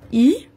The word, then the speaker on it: y: Donc, comme vous voyez, c'est un Y, mais on prononce I.